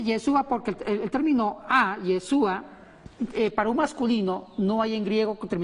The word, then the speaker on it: Yeshua: dice Jesús en hebreo o yesua se pron yeshua significa Salvador Salvador yeshua